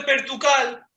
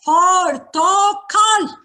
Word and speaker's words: portocal: No es Pertucal el nombre de esto, es Portocal. En Salonic decían pertucal, es pertucal. Aquí no es Salónica, ¿entendiste? Es Estambul. No se dice Pertucal, se dice Portocal.